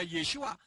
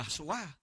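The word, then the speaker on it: ישוע: Lah sekarang perhatikan, kalau ini dikatakan diilhami oleh Ruach HaKodes, hurufnya itu Yod, Sin, Waw, Ayin, yang membacanya Yeshua, kok jadi Yahshua?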